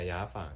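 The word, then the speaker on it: 雅房: But then sometimes I saw the sign that said Ya Fang. Am I saying it right? Right, yeah, Ya Fang.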